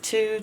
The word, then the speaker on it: two: These two together. Two. The only normal sound is the T. T. Ooh. Two. W-O doesn't normally make a ooh sound, but in this case it does.